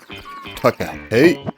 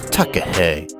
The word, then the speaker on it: takahē: Takaheat. Takaheat. Rainbow chicken. Juice extractor on legs. Pronounce it right. Hay is for horses. Takaheat is like eggs that they lay.